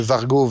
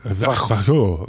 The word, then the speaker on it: Varjo: En fait, c'est comme Barjo mais avec un V.